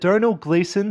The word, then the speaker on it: Domhnall Gleeson: I believe that Domhnall Gleeson, that's how you say his name, I know